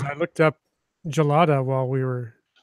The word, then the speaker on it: gelato: pronunciation I looked up gelato while we were it's apparently I saw two pronunciations listed online both with the soft G as gelato or gelada which I